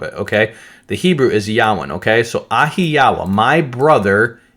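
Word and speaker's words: יוון: So the Hebrew, you're going to see in your Bibles Javin, but it's actually pronounced Yawin.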